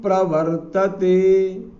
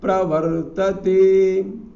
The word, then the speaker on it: प्रवर्तते: संयोग स्वभाव स्तु प्रवर्तते यहां उच्चारण में हमें ध्यान रखना पड़ेगा इस जगह पर क्योंकि यह पहले ह्रस्व मात्रा है फिर संयुक्त वर्ण आया है पा में र लगा हुआ है यहां पर तो प्र तो यहां बोलना पड़ेगा स्वभाव स्तु प्रवर्तते तु प्रवर्तते तुप तुप आधि पा के समान ध्वनि अंदर ओष में लेना पड़ेगी तब शुद्ध उच्चारण कर पाएंगे तो स्वभाव स्तु प्रवर्तते